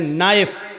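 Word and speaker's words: knife: जैसे इंग्लिश में नाइफ किसको कहते हैं, चाकू को। नाइफ के माना चाकू, लेकिन के लिखा जाता है, बोला नहीं जाता, वो साइलेंट रहता है।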